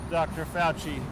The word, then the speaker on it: Fauci: And so the good news is that now people are starting to look back at the pronouncements of Dr. Fauci, pronounced with a hard C.